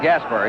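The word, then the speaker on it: Gaspar: long beach california rod gasper he spells his name g-a-s-p-a-r pronounces it as it were spelled er and the first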